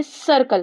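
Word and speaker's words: circle: नाउ सर्कल। इसको क्या पढ़ते हैं? सर्कल। कैसे प्रोनाउंस कर रहे हैं इसको?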